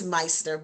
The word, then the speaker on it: Myster: little older, Mister, but it's not Mister, it's Myster. But either way, we make sure he he is addressed properly.